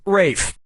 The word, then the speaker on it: Ralph: Yep, Rafe Fiennes' first name is spelled like Ralph, but pronounced Rafe.